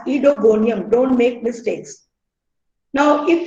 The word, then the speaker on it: Oedogonium: and genus is etygonium it's called as edogonium and not odogonium o is silent so it's ido gonium understandable we will pronounce it as edogonium don't make mistakes now